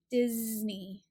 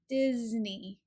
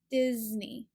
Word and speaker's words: Disney: this name and word the letter s is actually pronounced as the z sound so it's a little bit louder and buzzier Disney Disney not Disney so you're gonna feel